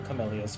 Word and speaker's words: camellias: Every night thereafter until the camellias fall. Camellias fall. I keep trying to not pronounce it like the name Camellia, but I assume they're actually pronounced the exact same.